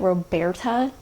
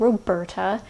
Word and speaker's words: RoBERTa: I say it Roberta. Don't ask me why. It is called Roberta.